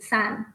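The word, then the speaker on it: 山: the original movie characters the chinese word san means mountain or hill and it's cantonese pronunciation is san which is a phonetic approximation of sound in english but it also implies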